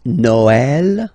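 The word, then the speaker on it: Noël: you will have to you will have to pronounce it like e okay like for instance Noel okay but then in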